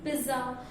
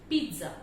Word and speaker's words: pizza: This word is pronounced by people as pizza, pizza, pizza, but the correct pronunciation of this word is pizza. I repeat, the correct pronunciation of this word is pizza.